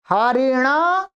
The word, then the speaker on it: हरिणा: ना रहेगा यहाँ पर, ठीक है, ध्यान रखेंगे, वहां आना नहीं होगा। हरिणा, यहाँ पर न कोणा हो गया।